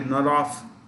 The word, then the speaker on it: Norov: That's where Vladimir Norov, pronounced with an F in the end, Vladimir Norov comes from.